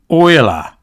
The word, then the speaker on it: Euler: Korea was behind this it's pronounced Oiler I don't give a EULA love Euler potato tomato tomato okay